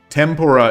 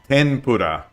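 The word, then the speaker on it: 天ぷら: between F and H, and tempura is the Americanized pronunciation. So it should be tenpura. 10, like with an N, tenpura.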